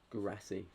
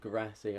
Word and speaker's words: Guirassy: I like Guirassy, that's how you say it. Guirassy, I like their striker, Dortmund striker.